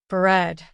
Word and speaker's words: bread: word in which the letter a is silent bread the aroma of freshly